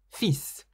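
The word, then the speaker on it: fils: in French the word sun in French is fees for example this means his son's name is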